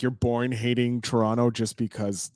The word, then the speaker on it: Toronto: Oh, Toronto. No, Toronto.